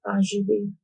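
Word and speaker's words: Azuradee: How do you pronounce that? Azurity Azurity Azurity Azurity Okay, what's your last name?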